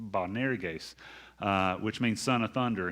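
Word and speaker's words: Boanerges: try and pronounce this bonair gays is the way that that is supposed to be pronounced bonarigase which means son of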